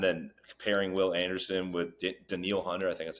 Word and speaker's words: Danielle: comparing Will Anderson with danil Hunter I think that's how you pronounce it Daniel spelled Danielle but I think it's danil yeah I think it's danal Danielle's my danial Hunter